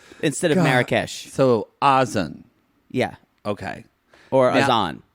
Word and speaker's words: Azan: We've been corrected that she just says his name wrong. It's Azan. Azan is his name.